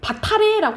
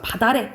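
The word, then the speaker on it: 밭 아래: 그래서 우리가 이걸 바타레라고 안 하는 거죠. 음절의 끝소리 규칙 적용돼서 바다레 이렇게 되는 거고, 그리고 맛업 비읍으로 자음군 단순화 되잖아, 그치?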